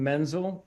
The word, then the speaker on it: Menzel: kudos to you sir isn't right if I call you Menzel or is it mental so as I tell this story my family pronounces the name Menzel if you talk about